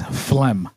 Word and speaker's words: phlegm: The next word is phlegm. Okay. Phlegm. Yep. I'll give you a hint. There's a silent letter in it.